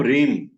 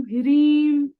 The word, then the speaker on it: ह्रीम: म ओम दुर्गाय नम इसमें आचार्य जी H silent होता है ओम रीम रीम रीम नहीं लिख भेज दूंगा मैं ग्रुप प ऑडियो भी भेज दूंगा और मंत्री भी भेज द नहीं जैसे स्पेलिंग में एच R double E एम होता है तोसे रीम बोल रहे बो एक बार आप इस मंत्र को बोलिए कैसे बोलेंगे ओम ह्रीम पूरा बोलिए पूरा ओम ह्रीम दुर्गाय नमः ओम ह्रीम